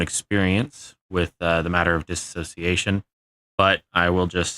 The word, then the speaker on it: dissociation: So, dissociation. It's often mispronounced as dissociation.